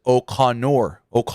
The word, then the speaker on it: O'Connor: Okay, Landon says O'Connor roll.